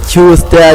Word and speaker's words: Tyuster: we have my brother from another mother, Tyuster. My brother, how are you? How are you? Did I pronounce that right? It's Tyuster, Tyuster. You pronounce it right, my man.